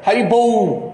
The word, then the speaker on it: Haribol: Apesar de quando nós cantamos Haribol, Haribol, a gente não canta ele dentro, canta Haribol, não é bol, é bolo, é no dente.